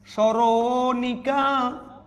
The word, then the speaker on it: স্মরণিকা: স্মরণিকা, মফালা যদি শুরুতে থাকে উচ্চারণ হবে না, কিন্তু উচ্চারণটা একটু ঝুঁক পড়বে, দন্তস থাকলে তালবস হয়ে যাবে। স্মরণিকা। তারপর দেখেন অদনির পর যদি